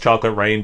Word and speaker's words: Chocolate Reign: So still pronounced Chocolate Rain, but different spelling of rain.